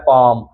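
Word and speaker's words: palm: है इसी तरह है पाम पाम में भी आप देख सकते हैं एम से पहले एल आया इसलिए एल साइलेंट है इसी तरह है आमंड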